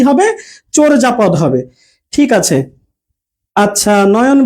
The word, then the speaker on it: চর্যাপদ: উচ্চারণটা আমরা বলছি চোর, চোর আর অন্তস্থ যা উচ্চারণ হয় না, এটা হবে বর্গীয় যা, চোর যা পদ। ঠিক আছে, এরকম উচ্চারণটা হবে। তাহলে আমরা এটার উচ্চারণ করি চর্যাপদ, কিন্তু এটা আসলে উচ্চারণটা কি হবে? চোরজাপদ হবে।